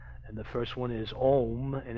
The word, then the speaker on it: om: the first one is om and it's pronounced as you would pronounce home except leave the H off and so we'll go